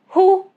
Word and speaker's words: who: Example, simple, who, whoever, whole. No sound of W. Letter X. It is silent at the end of a word derived from French.